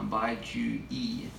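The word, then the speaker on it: Bai Juyi: from a Chinese poet whose name is really pronounced Bai Ju Yi. I know this because my wife is Chinese.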